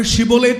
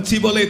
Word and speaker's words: ஷிபோலேத்: அவனுக்கு ஷிபோலேத் என்று சொல்ல தெரியாது, அவன் சிபோலேத் என்று தான் சொல்லுவான்.